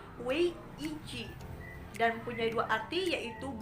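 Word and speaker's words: 危机: Dalam bahasa Cina, krisis diucapkan dengan wei ji dan mempunyai dua arti, yaitu bahaya dan peluang.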